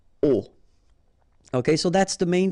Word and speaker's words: aux: And then A plus les will become O, AUX, but then remember that phonetically it's O.